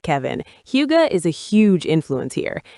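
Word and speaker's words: hygge: It reminds me of that Danish concept, huga. I probably pronounced that wrong, but it is all about that feeling of contentment and coziness. You got it right, Kevin. Huga is a huge influence here.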